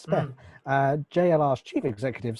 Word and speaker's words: Speth: Ralph Speth, if it's You are pronouncing it right. You haven't got a speech impediment, so yeah, that is his name, Ralph Speth.